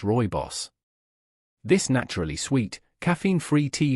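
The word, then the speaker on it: Rooibos: Then it's time you discovered the hidden power of Rohi's tea, pronounced Roy Boss, this naturally sweet caffeine-free tea from South Africa is often overlooked.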